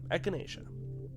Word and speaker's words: echinacea: do you say it echinacea oh okay echinacea yuku over the baby girl and wish Tammy